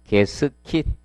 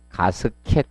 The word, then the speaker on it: 게스킷: 그리고 107페이지 게스킷. 자, 발음상 정확히는 뭐다? 게스킷인데 뭐 옛날 분들 이렇게 부르는 분들 많습니다. 게스킷 또는 가스켓 이렇게 부릅니다.